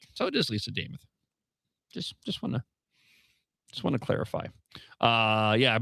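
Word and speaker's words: Lisa Demuth: She told us all that it rhymes with Joe Namath. So if you can remember Joe Namath, you'll remember Lisa James. Okay, so I had it right. So it is Lisa Namath.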